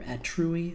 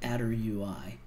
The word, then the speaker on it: attrui: tool which is called attr UI pronounced either at truiy or a derp UI and you connect this